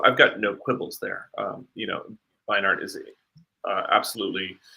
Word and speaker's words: Beinart: Is that how you pronounce it? I think it's Read it. Beinart, but yeah, Beinart.